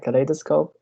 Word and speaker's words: kaleidoscope: word kla the scope the stress is in the second syllable and my sentence is